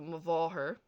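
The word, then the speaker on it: mo mháthair: van, meaning the woman, and MH is pronounced like V or V. So depending on the dialects spoken and the word itself. So mavaher, my mother, or as you see there in the kind of pronunciation, mo, va, her, or va, her.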